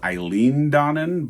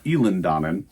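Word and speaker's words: Eilean Donan: Eland Donan castle which I was thought was Eileen Donan but no it's pronounced elen Donan and what's fun about that is after we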